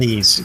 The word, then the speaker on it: Ys: Wise? Yeah, Ease. Yeah. It's called Ease, but yes, it's spelled.